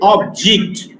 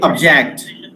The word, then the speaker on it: object: When I use this word object as a noun, I say object. Object. I pronounce this. When I use it as a verb, I have to say object.